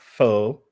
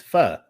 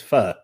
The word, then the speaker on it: pho: No, it's not pho. It's pho. The correct pronunciation is pho.